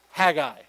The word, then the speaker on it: Haggai: going to jump over to Haggai or Hagee I whichever way you want to pronounce it all right we're going